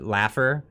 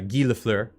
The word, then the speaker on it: Lafleur: got no worries I've heard uh LaFleur being pronounced uh Laffer yeah guy laugher that one always that was cracked me up the pronunciation the the famous hockey player uh the great one uh gilafler did he passed away yes he did he